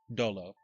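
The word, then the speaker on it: Dolu: D-O... Wait, D-O-L-U. Dolo. Not Dula. Dolo.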